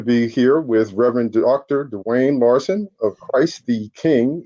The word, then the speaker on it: Duane: dr lawson uh uh so how would you pronounce uh prefer to be uh yeah you can call me dwayne that's fine i have a southern california very